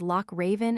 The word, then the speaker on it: Loch Raven: in such names as Loch Raven and slash Lochville slash the guttural Scotch, and German sound, but locally it is always pronounced as if it were slash k slash.